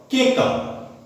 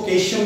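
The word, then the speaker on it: caecum: Intestine, that is called केकम। इसको pronunciation के लिए बहुत आदमी इसको केशियम भी पढ़ते हैं, केकम भी पढ़ते हैं, तो आपकी जो इच्छा, दोनों प्रोनाउंसिएशन सही है, सी ए ई सी यू एम केकम।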